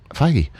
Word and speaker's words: Feige: I felt like you were saying it wrong. Feige.